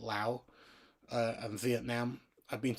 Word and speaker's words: Lao: I know people pronounce that country differently. Um, I pronounce it Lao.